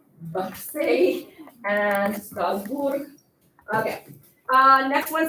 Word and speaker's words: Marseille: It rhymes even. Numéro 9, c'est la ville de Marseille. So M-A-R-S-E-I-L-L-E.